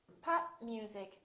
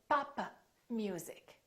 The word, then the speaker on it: pop music: i'm stopping the airflow pop music here is the rule when we have a stop followed by another consonant do not release the stop look at me don't say papa music instead you need to